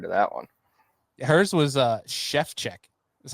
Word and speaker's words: Szewczyk: Hers was Shevchek is how you pronounced it.